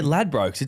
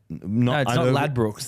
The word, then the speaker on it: Ladbrokes: by lad Brook yeah but that's lad broses that's how you say it over here not lad Brooks that's that's a that's a that's the the um the English say it differently maybe we need to